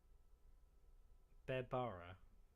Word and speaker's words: Berbara: Just tell me again, and I'll write down how I'll write it phonetically. Berbara. Berbara. Yeah. So just put like a weird little like dash between BE and then Bara.